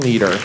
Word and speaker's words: Leeder: do so not because my name is Leader, because it's spelled differently, L-E-E, but because when I started, about your age, I started to move into leadership positions.